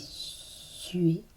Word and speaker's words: suées: Des suées rime avec suer. Comme dans il suait.